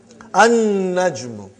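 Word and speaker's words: النجم: An-najmu. You did not pronounce lam because noon is a shamsi, sun letter.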